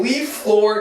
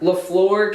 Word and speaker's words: LaFleur: In Leaf Floor Country. Okay. And where? I'm definitely pronouncing Can I this. say it? Leaf Floor. LaFleur? LaFleur County. County.